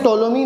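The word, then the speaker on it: Ptolemy: ठीक है, जैसे टोलोमी क्लॉडियस टोलोमी नाम के एक ग्रीक मैथमेटिशियन रहे हैं। ठीक है, इसको पी साइलेंट होता है इनके नाम में।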